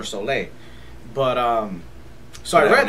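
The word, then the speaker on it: Soule: name wrong I'm sorry it's Charles soul with the e at the end so I don't know if it's Soul or soay but um so I read that accent no soul okay so Charles soul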